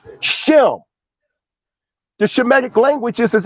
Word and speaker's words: Shem: the greek word sim because there was no sh sound in the greek which should be properly pronounced as shem the shemetic language this